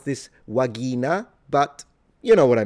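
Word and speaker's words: vagina: Do remember classical pronunciation, the V is a W and the G is a G. So, pronunciation is a little different. Uh, you would pronounce this wagina, but you know what I mean.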